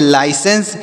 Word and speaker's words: licence: LICENCE, तो यल से पढ़ेंगे लॉ, आई से आई पढ़ेंगे, CE से 100, A से एक ही का मात्रा का उच्चारण, N से 9, CE से 100 पढ़ेंगे, जैसे पढ़ेंगे लाइसेंस।